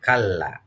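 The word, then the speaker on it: كلا: Adapun cara membacanya, kalla, maaf ini ada kurang L-nya ya, kurang L-nya. Kalla. Ini ada L satu lagi, double.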